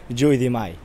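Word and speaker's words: jeu de mail: Aquí donde estamos ahora, hace 300 años, se jugaba un juego que se llama el juego del mayo, que se pronuncia en francés Jeu de Mai.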